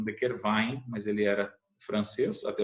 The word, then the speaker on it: de Quervain: Aí a tenosynovite de De Quervain, especificamente, é a lesão dos tendões, de dois